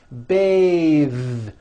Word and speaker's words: bathe: beth but when you change it into a verb to bathe the vowel changes to an a sound and the th is voiced bathe like in bathing suit